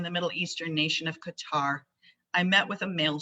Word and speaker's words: Qatar: So, let me start by telling you a little bit about the state of Qatar. In Arabic, it's pronounced Qatar or Qur.